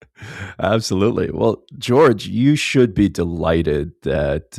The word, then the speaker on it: Jorj: It's George, but it's a J at the beginning, J at the end, but it's pronounced as all other normal Georgees.